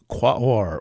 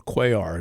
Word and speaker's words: Quaoar: And so the sun will be making conjunctions to Ixion, that's a Pluto-like body, as well as Quaoar or Quaoar, depending on how you want to pronounce it, the Centaur, Pholus, the